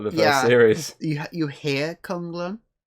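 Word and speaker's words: K'un-Lun: It's Kung Lun.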